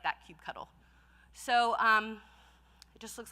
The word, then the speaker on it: kubectl: And it's pronounced like that, kubectl. So it just looks like this, kubectl, create -f, and then you're going to put